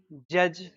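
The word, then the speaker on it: judge: जे भी आते हैं तो एक सूत्र है कि का बोलबाला ड के मुंह पर ताला डी है यह साइलेंट हो जाता आप बचपन से पढ़ते हैं। जे यू डी जी ई जज बी आर आई डी जी E bridge बोलिए पी यू डी जी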